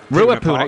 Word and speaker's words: Ruapuna: How's it pronounced? Ruapuna Park. Ruapuna, yeah.